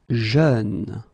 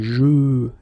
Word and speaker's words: jeune: Jeune. Same thing, you don't say je, you say jeune, okay?